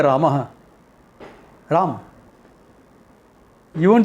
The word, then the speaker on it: Rama: You can't say Ram in Sanskrit. Hindi you can say Ram. Rama. Yeah. There is an A there which you have to mention.